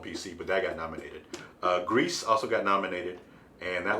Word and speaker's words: Gris: Grease also got nominated, and that was an interesting indie game. I love that it's called Grease, but it's spelled Gris.